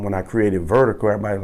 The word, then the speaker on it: Virdiko: So people are like, man, they don't know how to pronounce it. It's Virdiko, you know.